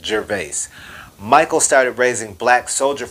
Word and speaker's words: Gervais: The CEO of this company's name is Michael Gervais, which, if I'm pronouncing it correctly, rhymes with Gervais.